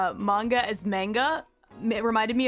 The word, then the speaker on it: manga: And I remember back then I kept pronouncing it manga when I would talk to her, and she'd kind of whip around and be like, it's manga.